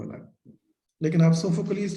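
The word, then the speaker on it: Sophocles: इसकी दो जी सर। pronunciation हमारे पास आएंगी जब इंग्लिश में बोलेंगे, लेकिन इसकी जो है ग्रीक में जाएंगे ना, तो ये सोफोक्लीज बनेगा।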